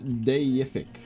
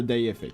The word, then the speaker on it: deific: It's pronounced deific. Oh, like a deity, right? So deific.